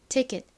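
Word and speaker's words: ticket: 그런데 사실이 단어의 원어 발음은요. 여기서이가에 소리가 아닌 이에 각각에 들려요. 그래서이 단어의 정확한 발음은 아닌 티켓 티켓입니다. 키보다는 좀 세게 쌍기에 가깝게 발음되는 경향이 있어요.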